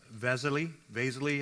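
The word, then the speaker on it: Wessely: Naftali Vesely, I've heard different pronunciations, or just Vesel. Sometimes his name is just pronounced Vesel.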